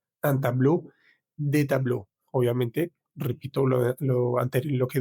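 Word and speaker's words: tableau: Tenemos la palabra a tablue, es decir, como una un una pintura, un cuadro. Para decir unos cuadros vamos a decir de tablue. De tablue. La palabra tablue en singular en plural no cambia la pronunciación.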